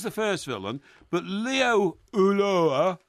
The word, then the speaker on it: Ulloa: Ulloa. No, it's Ulloa. It's pronounced Ulloa. Well, okay. Well, he's Argentinian. You want to pronounce it Ulloa, that's fine. Well, that's how he pronounces it.